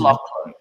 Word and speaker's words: Lachlan: Lachlan, don't you think we should get a bit of Shakespeare on Pronounced him? Lachlan.